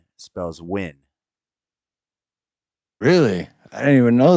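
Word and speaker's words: Nguyen: guu y n g u ye n spells win really I didn't even know that that's a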